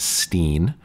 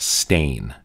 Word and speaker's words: Steen: it should be pronounced Steen but as I was told recently by an Afrikaans speaker actually should be pronounced stained as in that thing that you got on your shirt from swirling your wine